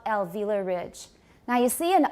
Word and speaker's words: ridge: desk ridge alveolar ridge not reach don't say reach it's ridge alveolar ridge good alveolar